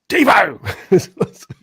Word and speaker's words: Devo: I saw, where because I used to pronounce his name Devo as in devastated, and then he's pointed out to me how to say it, and I've at the beginning of his videos it's like Devo.